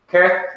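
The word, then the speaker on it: kheth: Keth, which is our English CH, like in Christ.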